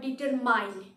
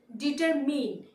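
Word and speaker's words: determine: আচ্ছা আমরা কি বলবো, ডিটারমিন অর ডিটারমাইন, মানে দৃঢ় প্রতিজ্ঞ হবা, the correct one ইজ ডিটারমিন, ডিটারমিন।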